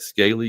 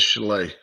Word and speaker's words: Schley: Tryon, 12-point favorites at Scaly County. Is it not pronounced Schley County? Is it Schley? I think it is Schley. Schley. Somebody correct us if I'm wrong. But I'm pretty sure it's Schley County.